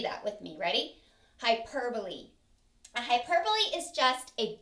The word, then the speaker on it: hyperbole: hyperbole it looks like you would say it hyperbole but that's not the correct pronunciation the pronunciation is hyperbole so say that with me ready hyperbole a hyperbole is just a big exaggeration all